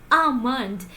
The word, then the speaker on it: almond: not almond or uh it is not almond or something like this you always have to pronounce it like almond it is almond almond there is no La sound here it is almond not